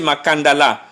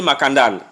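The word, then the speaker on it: Makandala: j'ai précisé max et le nom c'est makanda là mais les locuteurs du français avec la prononciation françaises ont perdu la dernière lettre à on est de prononcer makanda là ils ont prononcé ma canal bon vous savez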